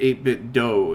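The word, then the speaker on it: 8BitDo: so he said um do in Japanese means the way of so in this it would be as the way of eight bit so for example akido the way of peace and Harmony Judo The Gentle Way shodo the way of Japanese calligraphy so pronouncing it 8bit do is probably you know it is not probably it's definitely the right way and funny cuz right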